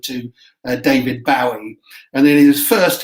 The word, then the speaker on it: Bowie: changed his name to bowie or bowie as it should really be pronounced after the famous bowie knife in america um and that was